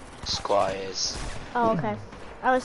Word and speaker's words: Squires: Squires.